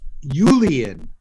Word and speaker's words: Julian: It's like And what a J, god- except pronounced with a Y. Julian.